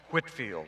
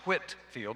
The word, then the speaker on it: Whitefield: the story about George Whitefield it's spelled whi te but pronounced wit field not white field George Whitfield was a